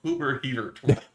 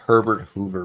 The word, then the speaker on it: Herbert Hoover: Not Hubert Hever. It is the Hoover building. Yes, Herbert Hoover building.